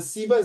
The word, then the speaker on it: Siemens: At the moment, we are making a training video for Siemens. Okay. Siemens, not the sperm. Wow. The Siemens, another pronunciation Siemens.